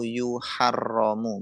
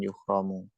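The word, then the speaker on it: يُحَرَّمُ: Jadi kalimah ini bisa dibaca yahrumu atau yuharromu, bukan yuhromu. Kalau antum bacanya yuhromu maknanya bukan diharamkan tetapi diihromi.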